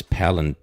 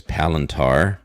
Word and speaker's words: Palantir: Now, I would think to pronounce this Palantir or something like that, but everyone I've heard mention it is Palintar Technologies, PLTR.